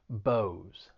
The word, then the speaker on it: Bose: headphones and speakers and that s yes it is more of a z sound bose bose and then we have